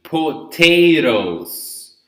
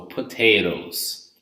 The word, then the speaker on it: potatoes: The second one is between vowels. In this case, it's not essential to the word, so we don't pronounce it. So potatoes, okay?